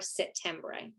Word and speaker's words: Settembre: I am Settembre. So it's the month of September in Italian. So nobody can usually spell it. There's no P, it's Settembre.